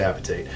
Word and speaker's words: hydroxyapatite: There's different ways to pronounce that, but I like to say apatite.